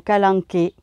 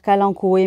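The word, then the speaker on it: Kalanchoe: c'est pas toujours évident moi j'ai pris l'habitude de dire qu'alan coué mais je pense que la vraie prononciation ses calanques et mais bon moi vous m'entendrez sûrement dire qu'alan coûts et parce que c'est une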